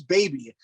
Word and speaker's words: bbno$: radio station that said pronounced BB No Money, and I was like, I'm pretty sure it's Baby.